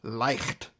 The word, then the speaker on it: Leicht: So this is actually pronounced Leicht, and it means light, as in light.